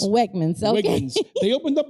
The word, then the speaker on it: Wegmans: Including the famous, oh my God, I don't know if I could pronounce it correctly. Wegmans. Wegmans. Wegmans.